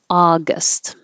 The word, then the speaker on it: August: so take your pick august i know this looks like ow or ow but it's just ah august the d e sounds